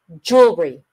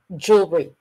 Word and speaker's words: jewelry: it's very cute okay so jewelry jewelry two syllables jewelry dictionary jewelry jewelry